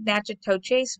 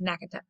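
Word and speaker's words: Natchitoches: plantation in nacotec louisiana yeah it looks like magic toe chase but it's actually pronounced nakatuk um only three years later however kate's husband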